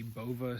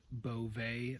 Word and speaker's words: Bova: We're in the Bova skiing area, which is actually pronounced Beauvais according to the sign.